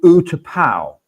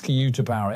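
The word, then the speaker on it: U-Tapao: So it's called Utapao. That's the way to pronounce it, I think.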